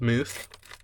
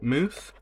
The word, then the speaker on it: mousse: is the chocolate mousse pretty sure it's pronounced mousse don't think it's pronounced Mouse so that leaves moose um